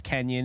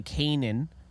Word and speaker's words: Kanan: it's spelled weird so I thought it was Kenyan it's apparently Kanan but look I don't